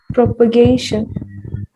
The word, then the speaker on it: propagation: us your words okay propagation propagation very good here again a is a diphthong you have to pronounce it with the two two vowel syllables two vowel sounds propagation let's all say